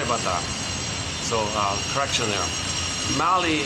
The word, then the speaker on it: Mali: Mali is that country has two syllables, Mali, two syllables.